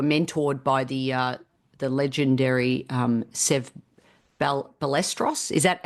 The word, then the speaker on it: Ballesteros: So I know that you were mentored by the legendary Sev Ballesteros. Is that how I pronounce it? Yeah. There you go, Ballesteros.